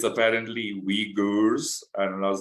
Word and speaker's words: Uyghurs: I actually had to go and Google the pronunciation of that name so it's apparently uyghurs and I was like okay that's a bit